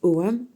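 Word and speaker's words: Ogham: donc ça sacritogam mais ça se prononce OAM tu sais avant les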